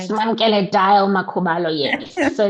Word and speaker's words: Simamkele: She is Simamkele. Did I say it right? Smamkele Dial Makubalo, yes.